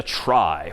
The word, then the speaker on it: trie: this one pictorially for the most part and that's known as a try which is somehow short for retrieval even though that's pronounced somewhat differently but try just means it's a data structure for retrieving data.